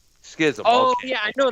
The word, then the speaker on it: Schism: Well, it's spelled Schism. Schism. Schism.